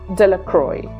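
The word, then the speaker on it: Delacroix: The villages pronounced this name as Deacroy.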